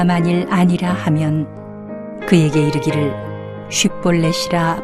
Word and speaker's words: 쉿볼렛: 아니라 하면 그에게 이르기를 쉿볼렛이라 발음하라 하여 에브라임 사람이 그렇게 바로 말하지 못하고 십볼렛이라 발음하면 길르앗 사람이 곧 그를 잡아서 요단강 나루턱에서 죽였더라.